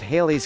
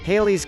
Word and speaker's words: Halley's: it on earth 13 Halley's Comet has two correct pronunciations it can rhyme with daily or valley since the discoverer Edmund